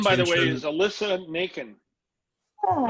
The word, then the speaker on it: Nakken: Her name, by the way, is Alyssa Naken. Oh. Naken. I'm not sure how you pronounce it. It's Nakken, but her first name's Alyssa.